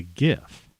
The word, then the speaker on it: GIF: It's not a soft G when it's by itself that way, right? It's a GIF, right? Gorilla, not gorilla.